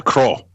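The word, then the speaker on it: Croagh: this for me Dave it's c r o a g h yeah Crow there you go Crow Patrick I think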